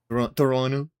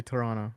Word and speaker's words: Toronto: no, if you're from Toronto, you don't say it with a T. Toronto. Yeah, you say Toronto It's because like that.